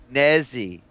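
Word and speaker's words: Nezih: That the second one, it's pronounced with N-E-Z-I-H. Nezzy right.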